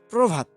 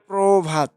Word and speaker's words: প্রভাত: প্রভাত, প্রভাত আমরা লেখার সময় ঠিক এইভাবেই লিখি, তবে উচ্চারণের সময় পতে ওকার চলে আসে প্রভাত।